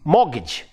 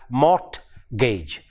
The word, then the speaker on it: mortgage: In the same way, we have the word M-O-R-T-G-A-G-E. It is mortgage. But we Malayali speakers of English tend to pronounce the word as mortgage.